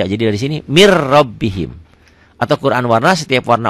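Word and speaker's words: مِنْ رَبِّهِمْ: Min rabbihim dibacanya mir rabbihim. Ketentuannya setiap huruf mati ketemu huruf bertasdid. Ini ada tasdidnya ya kalau dalam Quran. Setiap huruf mati ketemu huruf bertasdid, huruf matinya jangan dibaca.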